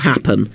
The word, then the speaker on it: happen: The stress is on the hap bit of happen and the tar bit of target.